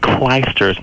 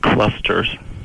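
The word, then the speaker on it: Clijsters: Everett is pronounced Clysters, not clusters. Well, it's spelled Clusters. No, it's spelled C-L-I-J. It's Clysters.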